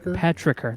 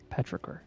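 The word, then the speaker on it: petrichor: wet rain on hot pavement that's an actress petriker thank you petricker is the term coin coined by an Australian scientist 1964.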